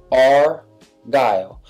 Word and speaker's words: Argyle: day is our Gotham now that's pronounced our dial now I'm sure that you have seen this pattern and yes Argyle is a pattern in